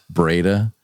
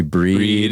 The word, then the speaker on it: Breda: Like, it's Breda. Right. People call me Breed.